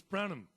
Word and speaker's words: Branom: pronounced your surname right is it Bram yes it is without the u though oh so it's brandom yeah b r a n o m o m oh lovely